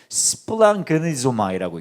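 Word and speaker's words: σπλαγχνίζομαι: 스플랑그니마이라고 읽습니다. 어렵지 않죠? 자, 한번 따라해 볼까요? 스플랑그니마이. 왜 이렇게 잘해요?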